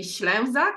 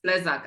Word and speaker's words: Slezak: Her name is Slezak. Did I pronounce it right? Well, if we are really picky, because I'm Polish, it should be Slezak, but in Australia, it's Slezak, apparently.